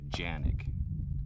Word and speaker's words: Canik: made in turkey and in turkey they pronounce the name of the gun janik j-a-n-i-k but it's actually